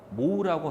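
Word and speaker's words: mho: 모라고 합니다.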